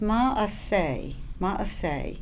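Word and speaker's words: מעשה: It's pronounced ma'aseh.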